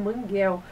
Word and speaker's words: Manguel: Eu sempre falei Alberto Manguel, porque eu ouvi inclusive de professores Alberto Manguel e acabei descobrindo que em espanhol a pronúncia correta é Manguel.